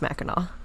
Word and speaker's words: Mackinac: And we do know that it is pronounced Mackinac for those of you who sorry, telling us.